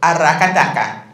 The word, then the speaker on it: Aracataca: Aracataca. Isn't it fun? It's like it just, and if you can roll your R's, it's even funner.